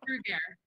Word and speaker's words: Bruggere: Did I pronounce that right? Nope, you absolutely did not. All right, how do I pronounce it, just so I know? Brugger. Brugger? Brugger. Just pretty simple.